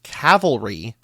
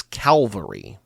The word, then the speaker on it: cavalry: Luke Hobbs mispronounces cavalry as calvary.